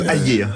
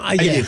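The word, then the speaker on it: Hayer: On prononce Ayer, a priori. Ayer.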